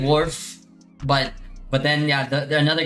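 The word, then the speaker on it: Wharf: I mean, warf is how I would say it in English cuz it's spelled wh a rf. Warf it with my normal American accent. But the other guy said I have to say like wolf wf.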